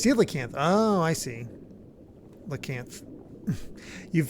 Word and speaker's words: coelacanth: Oh, it's pronounced coelacanth.